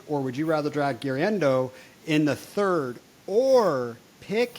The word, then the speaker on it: Guerendo: Forgive me, I'm going to butcher this name, but Isaac Guerendo, is that how you pronounce it?